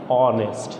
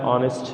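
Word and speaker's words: honest: ক্ষেত্রে অ্যান হবে, তাহলে এখানে হয়ে যাচ্ছে অ্যান অনেস্ট। ঠিক আছে, যেমন my father is অ্যান অনেস্ট ম্যান, হি ইজ অ্যান অনেস্ট ম্যান।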